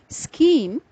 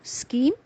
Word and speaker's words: scheme: The last three words in this list are pronounced as chromosome, scheme, and stomach. So chromosome, scheme, and stomach. Here are some more words having the CH digraphs and with silent H.